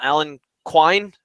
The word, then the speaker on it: Alan Quine: And a guy that we have not talked about at all, Alan Quine, is that how you say his name?